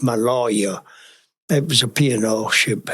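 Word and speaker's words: Maloja: the SS maloa Malia m a l o j a is pronounced my lawyer it was a piano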